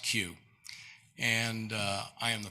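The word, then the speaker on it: Keough: say okay everybody does it's pronounced q and uh i am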